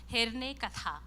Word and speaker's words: Herne Katha: I'm not sure if it has got sound, but that's how we pronounce it, Hirne Katha.